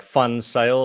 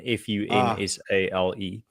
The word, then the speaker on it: van Zyl: So my name is pronounced van Zyl, but you can pronounce the surname. The best way to pronounce it would be like Fun Sail, like the sail of fun, Funsale.